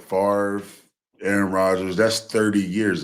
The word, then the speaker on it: Favre: man I think you just said it right farre Aaron roders that's 30 years of Excellence right